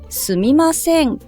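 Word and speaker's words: すみません: 그이라고 하잖아요 이것도 마찬가지입니다 앞부분이나 중간에 액센트를 주면 절대 안 되고요 스미 마생 스미 마생 이렇게 한번 연습해 보시면 좋을 것 같아요 악센트 위치에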